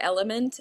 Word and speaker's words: LMNT: My favorite are it's called Element, LMNT, it's spelled Okay.